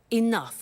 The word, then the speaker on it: enough: doesn't have enough money now this word enough enough it's written e n o u G H the pronunciation is enough what does it mean let